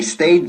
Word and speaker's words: stay: Ojo con la pronunciación del verbo to stay. No decimos stay. No hay ni pizca ni rastro de una E al principio de ese verbo. Stay, ¿ok?